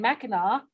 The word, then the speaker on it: Mackinac: Oh, then I'll remember Melissa and Mackinac, because that's how you say it in Michigan, right?